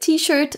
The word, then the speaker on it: t-shirt: Donc bien sûr, on prononce à la française. We don't pronounce it t-shirt, but t-shirt, even though it's an English word.